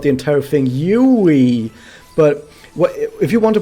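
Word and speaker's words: うい: But the thing is, I usually tell people that no, you're pronouncing it Yui, Yui. Like there's a lot of how would you describe it? There's too much richness in those vowels. You go Yui, like your mouth is vibrating throughout the entire thing.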